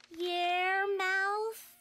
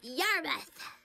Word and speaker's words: Yarmouth: Your mouth, your move, yar. It's pronounced Yarmouth.